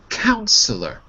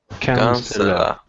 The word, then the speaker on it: counselor: a shame head right so there's no second syllable on the end of the shamed okay next word is counselor counselor please repeat counselor okay good it's a are but it's pronounced